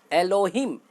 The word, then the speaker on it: Elohim: एलोहिम English में spelling है ELOHIM।